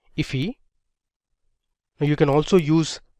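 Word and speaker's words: IIFE: So this is known as an immediately invoked function expression or I if which is often pronounced as ify.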